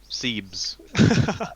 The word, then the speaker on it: Skebs: Allegedly, it's pronounced Scenes, but with a B. Seebs.